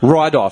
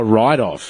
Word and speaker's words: write-off: Ride off. Says Instead he of right. Oh, write-off.